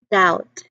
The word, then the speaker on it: doubt: Then you've got silent B too in words like dead, doubt, and silent T in listen and often. Though some people do pronounce the T in often, like often, but it's also not pronounced at some with other people.